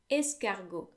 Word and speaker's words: escargot: french you'll find that if the final letter is a consonant it's silent it's not all the time but most of the time so escargot then the word gato